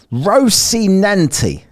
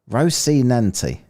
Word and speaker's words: Rocinante: Rocinante. Is that how I say it? Rocinante.